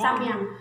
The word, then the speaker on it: Samyang: Bala, ano yung pag-pronounce dyan? Hamyang po. Hamyang, ah, Samyang. Samyang.